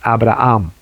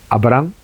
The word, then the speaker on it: Abraham: No es Abraham, es Abraham. Escuchen. Abraham, Abraham. Abraham, Abraham. Entonces tiene que hacer énfasis en la última sílaba.